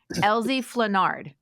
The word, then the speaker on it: Elzie Flenard: I don't butcher it oh my gosh okay Elie fenard correct yeah it okay Elie otherwise cuz people